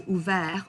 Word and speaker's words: ouvert: So ouvert, offert, souffert, découvert. And please do not pronounce that T at the end.